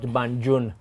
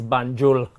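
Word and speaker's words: Banjul: won't name names but it is not banun is banul there's an L at the end not an N so all of those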